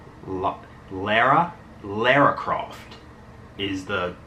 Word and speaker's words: Lara: Tomb Raider 2 and I actually think it's pronounced Lara laracroft is the correct pronunciation for most of you out there who call her Laura but I already have uh Tomb Raider 2